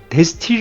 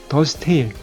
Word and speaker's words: De Stijl: 바로 더 스테이지 입니다 데스티 라고 보통 많이 발음을 하는데요 4l & 발음은 더 스테일 이라고 발음을 한다고 하구요 그리고 있게 실제로 주안